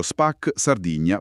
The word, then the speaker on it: Spac Sardigna: canale YouTube Spac Sardigna che si legge proprio Spac Sardigna Paranormal Archeology Channel.